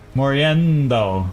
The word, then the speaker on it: Moriendo: Moriendo, with the accent more on the endo part.